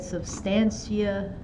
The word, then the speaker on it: substantia: Kind of like substance with an E at the end.